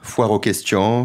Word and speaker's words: foire aux questions: That was a good FAQ, foire aux questions...